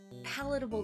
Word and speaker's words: palatable: retro stuff like this because you are going to see me perish a lot palatable the stress on the first syllable you know I that's